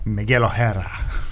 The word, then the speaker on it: Miguel O'Hara: Like Miguel O'Hara? Miguel O'Hara. Yep, that's how it's pronounced.